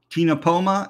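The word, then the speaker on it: Ctenopoma: are two other fish Tina Poma and microkinopoma in this case you don't say the sea in the first C in tinopoma or in the microtinopoma as well so no C uh the etymology of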